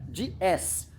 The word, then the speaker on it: DS: Tem um trocadilho ótimo, porque em francês, DS se pronuncia DS, que também é a palavra deles para deusa, o que eu acho tão apropriado para isso.